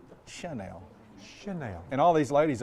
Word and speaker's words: Chanel: Elizabeth Burus at the same time told me that I was saying Chanel and it's supposed to be Chanel.